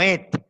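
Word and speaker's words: את: Et, otro número Strong, H855. Arado, asadón, reja. Así lo ponen, porque tiene una vocal que que lo pronuncia como et, con e.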